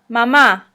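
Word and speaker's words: mamá: also known as la mama again accent is on the second a la mama in this situation the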